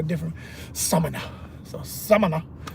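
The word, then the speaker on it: Samaná: Like some Dominicans I was talking to recently, they said, no, it's Samana. I said, okay, I'm saying Samana. They said, no, you gotta put the stress on the A, different. Samana.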